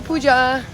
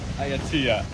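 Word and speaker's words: Ayutthaya: We made it to Auja. Am I saying it right? Ayatua.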